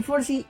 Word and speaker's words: Forsythe: Mi nombre es Forsyth, pero desgraciadamente nadie sabe pronunciar mi nombre. Tú me puedes decir Forsyth y bienvenido a la Ratonera Geek.